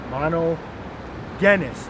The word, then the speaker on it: monogenes: begotten monogenes all right not not JIS monogenes all right mono genis you know there's no just just sound in the Greek or Hebrew all right so when you pronounce that word make sure you do not say JIS all right see minel